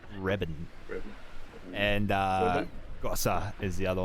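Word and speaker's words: Wreben: it's spelt with a W. W-R-E-B-E-N. Webben. Reben.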